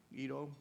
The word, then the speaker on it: Ido: I made a terrible mistake when I first came to America. I decided to spell my name Ido, I-D-O. By the way, Ido is not a Japanese name. It's a name that comes from the Bible. And it was pretty badly mispronounced by many Americans. They referred to me as Ido and I do, and people would look